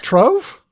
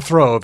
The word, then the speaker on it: trove: th treasure throve god Trove you are uh it's not a it's it's not a throve it's a trove so you're okay you're saying it right you are great well